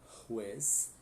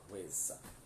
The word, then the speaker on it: juez: Lembrando que J tem som de R, tá? Então, el juez e la jueza, tá? E Z não tem som de Z como no português, né? Juez, jueza, né? Tipo dois S ou cedilha, tá?